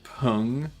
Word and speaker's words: PNG: It's like I I've like it it's like trying to pronounce pung as PNG.